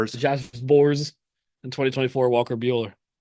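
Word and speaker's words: Sborz: Josh Bors.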